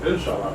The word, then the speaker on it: Inshallah: How do you pronounce it? Forgive me. Inshallah? Inshallah.